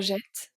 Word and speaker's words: jette: We have je jette. So, je jette, E-T-T-E. Pronounce E now that it's before two T.